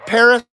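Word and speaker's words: Perris: Paris, California. It's spelled P-E-R-R-I-S, Paris.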